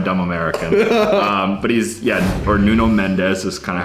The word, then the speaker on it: Nuno Mendes: Next up, Noon Mensch. Oh, the Portuguese, proper baby. pronunciation. There it is. Who said I'm a dumb American? But he's, or Nuno Mendes is kind of how it's spelled for you simpletons.